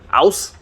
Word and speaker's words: aus: Aus and in. That's how you say it properly.